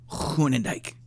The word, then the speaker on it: Groenendijk: Groenendijk is how you say your last name. Groenendijk. Yeah, it's a hard word. It's Dutch.